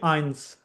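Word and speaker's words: eins: zero के लिए next है वन के लिए आइंस आइंस या आइंस वी टू के लिए वी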